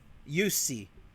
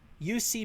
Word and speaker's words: Jussi: Jussi. Jussi means John in Finland.